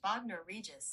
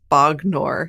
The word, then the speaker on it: Bognor Regis: That's pronounced Bognor Regis. Yeah. Okay, great. I've been saying it like Trogdor. Bognor.